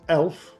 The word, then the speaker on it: Elph: In the first show there's a particular favorite is Elph, which is spelled e l p h rather than e l f.